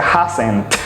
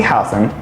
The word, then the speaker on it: hasn't: ¿Ves que hay una T con haven't y hasn't al final? Súper bien, porque no la vas a pronunciar. No se pronuncia haven't, ni se pronuncia hasn't, sino haven't y hasn't.